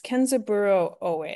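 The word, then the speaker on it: Kenzaburō Ōe: and what was his name again um it's kenzaburo O so I can spell it for you um k a e n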